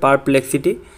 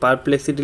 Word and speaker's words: Perplexity: নাম হচ্ছে ভালোভাবে শুনে নেবেন অ্যাপটির নাম হচ্ছে পারপ্লেক্সিটি ঠিক আছে তো আমি বানানটা বলে দিচ্ছি আমি স্পেলিং বলে দিচ্ছি সেটা হচ্ছে পি ই আর পি এল ই এক্স আই টি ওয়াই ঠিক আছে পারপ্লেক্সিটি লিখে সার্চ করে নেবেন তারপর আপনি পেয়ে যাবেন